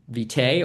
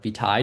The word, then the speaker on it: vitae: typically CV is for curriculum vitae or vitae, depending on your pronunciation.